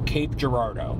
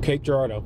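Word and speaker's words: Cape Girardeau: and I've never really I've heard so many mispronunciations I never knew what was right so Cape Gerardo Cape Gerardo yep and um I I only know that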